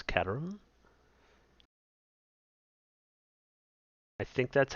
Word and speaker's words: Caterham: In America here, we would say Caterham, but it's a British car, so I believe it's a Caterham. Kind of drop that H.